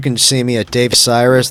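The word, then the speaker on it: Sirus: You can see me at Dave Cyrus. That's spelled S like virus, S-I-R-U-S.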